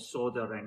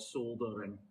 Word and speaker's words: soldering: Americans call it soldering, in Britain we call it soldering. Americans don't pronounce the L for some reason.